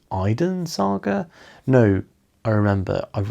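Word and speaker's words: Eidyn: In the audio book, they pronounce it Eden. Um, but it is E I D Y N. Um, so the Eden Saga is uh and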